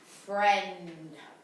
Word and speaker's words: friend: It's not making a long E sound, is it?